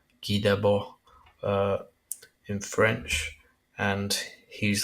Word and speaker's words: Guy Debord: It looks like Guy Debord, but pronounced Guy Debord in French, and he's like a like a